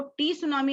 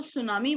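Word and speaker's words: tsunami: ये देखो ये है सुनामी, समुद्र की लहरें आ रही हैं, इसको टी सुनामी नहीं बोलना है, इसको सुनामी बोलना है, and that is tornado.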